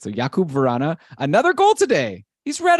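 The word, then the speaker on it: Jakub Vrána: interviewed he was like I like when they call me yakub because that's the actual way to pronounce it so yakub varana another goal today he's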